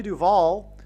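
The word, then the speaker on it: Duvall: And so, uh, Shelley Duval, uh, uh, her name rhymes with Hall.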